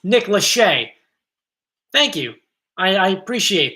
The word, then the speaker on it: Lachey: it's definitely not good guess though oh it's pronounced nick lachey thank you i i appreciate that lachey that